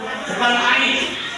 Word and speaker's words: AI: Dari kapan ada kata I Ai I ditulisnya A dan I dibacanya I ini mungkin sudah terdengar I di media sosial berhubungan dengan handphone dan sebagainya.